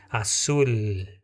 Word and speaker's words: azul: Você viu que a palavra azul nós não vamos ler com Z e nem com U, né? Esse L, ele fica a língua no palato. Assul.